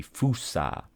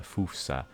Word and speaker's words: fossa: new animals welcome the fusa you could also call it the fossa if you want but I believe fusa is the official pronunciation the LA Gibbon the